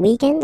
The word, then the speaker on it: weekend: So if we're talking about the weekend, okay, but then pronounce it the French way, weekend.